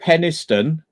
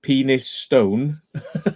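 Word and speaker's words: Penistone: place oh there's a there's a place called peniston but it's written penis stone if you look at it differently peniston which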